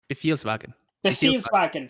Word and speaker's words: Befehlswagen: He may have some Behelfelwagons. Is that the correct? Pronounce it for me, Darkness? Befelswagen. Befelswagen. Befehlswagen.